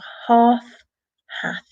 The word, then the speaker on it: half: there but either way we don't really say that L the L is silent so half half and the same with